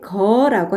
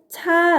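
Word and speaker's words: 車: 자 전 거 입니다 사람의 힘으로 움직일 때는 이렇게 거라고 바랍니다 반면에 자동차를 볼게요 자 동 차 아입니다 엔진의 힘으로 움직일 때는 요 이렇게 차라고 바랍니다 같은 환자인데 에 경우에 따라서 사용하는 발음이 다르니까 주의해주세요 술의 거라고도 하고 술에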